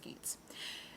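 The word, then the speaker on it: Geats: century geets and Danes I promise you it's pronounced geets uh which is based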